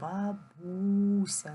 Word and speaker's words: бабуся: склад бу третій складц поставимо наголос бабуся наголос падає на другий голосний звук порахуйте скільки букв запишемо